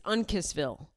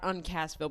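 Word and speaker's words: Uncasville: I've been I've been pronouncing it wrong. They let me know at the show. It's Unkissville. Unissville. That's how you say it. Not Uncastville.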